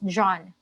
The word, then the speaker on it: Jean: In French, whenever you encounter this spelling, Jean, in the Philippines or in other countries, in American pronunciation, it's Jean, but in French, it's John.